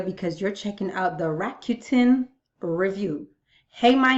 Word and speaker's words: Rakuten: You are on this video because you're checking out the Rakuten review.